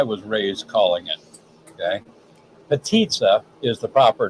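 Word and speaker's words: Potica: is what I was raised calling it okay petia is the proper name um p a t i c i a but it's pronounced Patia like the T sort of like the tamborita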